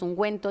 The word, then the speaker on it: ungüento: la diéresis Bueno pues ungüento lleva esa diéresis que son esos dos puntitos horizontales sobre la u para eh pronunciar esa u no después de la G eh hay que decir